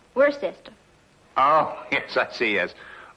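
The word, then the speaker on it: Worcester: Freddy calls it something else too doc but it's spelled w r c e s t e r Where sest oh yes I see yes Lord wer mhm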